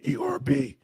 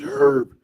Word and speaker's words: herb: American English herb e erb silent h is standard. Think of an herb. British English herb pronounced with the h is standard.